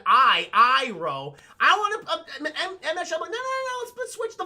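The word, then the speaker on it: Iroh: who looks the best is ero who should be called IRA but instead of just you know saying I I row I want to switch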